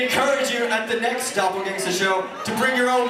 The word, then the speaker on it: Dopplegangsta: It's Dopplegangsta with an A, not an E-R-W-U-T-K. Y'all give it up, guys. Give it up. Dopplegangsta. Pronounce that shit right. Dopplegangsta.